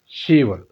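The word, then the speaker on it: 시월: 10 को कहते हैं शिप, लेकिन यहाँ शिप नहीं बोलते, बीएफ को साइलेंट करते हैं, यहाँ सिर्फ लिखते हैं शी, यानी कि 10वें महीने को कहते हैं शीवल।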